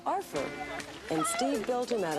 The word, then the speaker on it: R4: His name is R4, pronounced Arfer, and Steve built him out of odds and ends around the house.